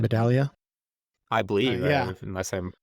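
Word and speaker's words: Medaglia: medalia medalia I always is it silent G or hard G like it's silent medalia I believe unless I'm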